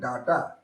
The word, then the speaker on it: data: Data. So your stress falls on the first syllable. Then ta. Data, not data.